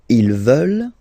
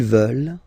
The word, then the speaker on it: veulent: And the last one, here EU, and then ENT, classic ending, but then you don't pronounce it, so you get veulent. Veulent. Ils veulent.